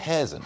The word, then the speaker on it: Kherson: I always mispronounce that because when I hear them pronounce it on TV, it's not the way I pronounce it. I believe Kherson.